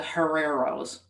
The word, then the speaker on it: Herreros: Well, the Herreros, pronouncing the H like a harsh gust of wind.